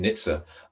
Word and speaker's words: NHTSA: from the National Highways Transport Safety Authority, usually pronounced NHTSA, in the US.